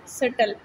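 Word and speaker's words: subtle: सटल. बी की sound नहीं है तो ये बी अंडरलाइन होगा. Rain, rain.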